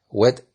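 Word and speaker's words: ב: Si una palabra termina en una vocal y la próxima palabra empieza con la Bet, Pe, Kaf, debe pronunciarlas como Wet, Fe, Jaf.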